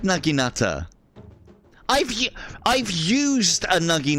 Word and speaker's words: naginata: have ashigaru sword and board I've always said naginata I've I've used a nugi Nutter in real